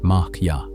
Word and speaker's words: Maya: The word most often attached to this teaching is Maya, pronounced mara, usually translated as illusion.